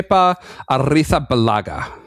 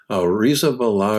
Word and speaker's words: Arrizabalaga: Well, you've got the Castellian lisp. So, it's Kea Artha Balaga. Artha Balaga. Artha. Artha Balaga. You gota trill the R and lisp your Z and then